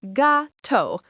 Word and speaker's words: gato: Cat is gato, pronounced gato, masculine.